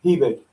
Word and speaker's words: Hebig: Hebig.